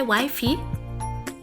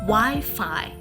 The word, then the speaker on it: Wi-Fi: how would you pronounce it would you say wifey do you usually pronounce the word as wifey you should repent now the word is rightfully pronounced Wi-Fi Wi-Fi yes Wi-Fi what is the Wi-Fi it